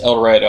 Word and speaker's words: El Dorado: he's from he's from El Dorado and again it's pronounced El Dorado I know it's about El Dorado yeah but that's how we say it you're just I don't